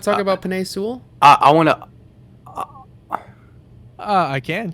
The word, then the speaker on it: Penei Sewell: So, Seawell is also what you might call a unicorn. Sorry. Hey. Sorry, how do you pronounce it, What? Bryce? Penei Sewell.